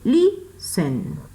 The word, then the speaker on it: listen: Porque la sílaba acentuada está al inicio y no al final.